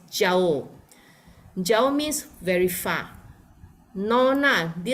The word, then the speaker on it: Jauh: J-A, so we will pronounce as Jauh.